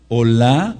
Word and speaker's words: Olá: Entonces el Korban Olá, anoten este sí, O-L-A, con acento en la A, en la fonética, Corbán Olá, es el sacrificio, o era el sacrificio de la mañana y de la tarde.